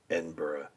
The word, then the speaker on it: Edinburgh: g to go to Edinburgh and it was being pronounced last night as Edinburg and my my my